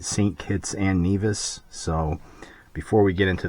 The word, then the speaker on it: Nevis: And it is Nevis, okay? So like, Nevis and Butthead, Nevis. That's how you pronounce it. It's not Nevis, it's Nevis.